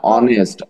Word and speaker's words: Honest: আবার খেয়াল করেন, এইটা হচ্ছে কি, উচ্চারণটা কি বলেন তো? এই উচ্চারণটা হি is dash man. He is dash honest man. কি উচ্চারণ? Honest. হ না, অনেস্ট, অ, অ।